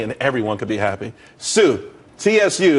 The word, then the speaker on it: TSU: everyone could be happy Sue TSU it's pronounced Su though that's that's a website.